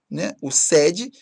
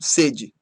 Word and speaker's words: sede: Uma com timbre aberto, que é o sede, outra com timbre fechado, que é o sede, vontade de beber.